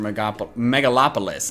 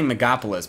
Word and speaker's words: Megalopolis: Well, you were battling Necrozma in our Ultra Megalopolis. I keep wanting to say Megapolis, but that's cutting out a syllable.